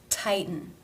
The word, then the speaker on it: tighten: a vowel sound but when the T is followed by the schwa and the end sound the T is not pronounced as a flap even if there is a vowel before rather it is pronounced as a stop for example the word